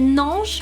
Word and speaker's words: Naange: Elle fait partie de votre premier EP, je crois, qui s'appelle Nange. C'est ça. Si c'est comme ça que ça se prononce.